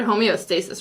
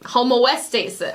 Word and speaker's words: homeostasis: Homoestasis. Homoestasis. So you just, I just mixed the O and the E up, but it makes sense in my head, but it's not right.